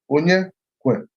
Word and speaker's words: Onyekwelu: My name is just 3 syllables. Onyekwelu.